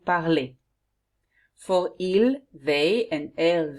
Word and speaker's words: parlez: For vous, you have to write ez, and remember you say et, vous parlez.